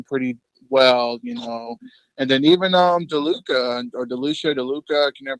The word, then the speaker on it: DeLuca: I think he's pitching pretty well, And then even DeLuca, I can never pronounce his name. DeLuca, you got it right the first time.